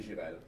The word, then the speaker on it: Jirel: How would you pronounce it? That would be Jirel.